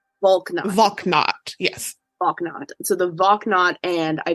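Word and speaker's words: Valknut: Volknot. Yes. Volknot.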